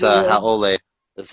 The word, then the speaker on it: haole: Haole. That's how you pronounce it.